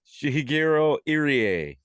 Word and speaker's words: Shigehiro Irie: How do you pronounce this gentleman's name? Shigehiro Irie.